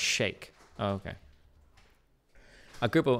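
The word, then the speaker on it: Sheikh: supported i guess but it's not chic it's pronounced shake oh okay a group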